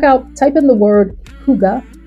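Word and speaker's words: hygge: type in the word Huga h y DDE E I have no idea how that spelling gets translated into Huga as a pronunciation pronunciation but that's what it is check that out too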